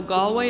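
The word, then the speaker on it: Galway: that that Swan was flying over to gway gallway I should say I get a little confused how to pronounce it so gallway is how you pronounce the Irish place the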